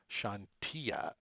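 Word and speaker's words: Chauntea: I never pronounce anything Shantia properly. Yeah, is how the wiki says it. Shantia.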